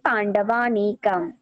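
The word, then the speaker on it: পাণ্ডবানীকম্: এই পাণ্ডবানিকম উচ্চারণ করার কারণ হচ্ছে এটা, স্বরসন্ধির কারণে এরকম হয়। অ আর অ মিলে যাওয়ার কারণে আ উচ্চারিত হয়, সেজন্য বলি পাণ্ডবানিকম, পাণ্ডবানিকম।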